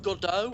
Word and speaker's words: Godot: I remember when I remember when I pronounced Godot as Godot when I was in drama, and my drama teacher was like, "Is there any specific reason that you're not pronouncing this right?" And I was like, "I don't know. It just sounds better. Godot." He went, "It's Godot."